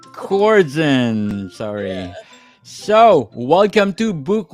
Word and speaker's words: Korzen: hi Daniel how are you my last is pronounced coren coren sorry so welcome to book 101 Miss coren and can you please introduce more about yourself